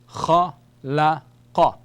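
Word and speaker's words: خلق: The letter qaf, it is a throat production, the upper throat, so it is qaf, kha, la, qa.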